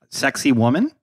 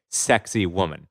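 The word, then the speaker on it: Sacsayhuamán: you can uh yeah pronounce this correctly is to basically say sexy woman but sac say human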